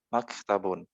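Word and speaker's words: مكتب: Ini mim, fathah, terus ka-nya sukun, ta-nya fathah, terus ba-nya dhammah tanwin gitu.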